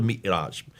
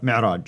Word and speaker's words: Mi'raj: But that's where called the Mi'raj. How do you Mi'raj, pronounce yes. it? Yes, Mi'raj.